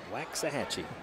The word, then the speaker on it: Waxahachie: Waxahachie. Another one of those words mispronounced quite often.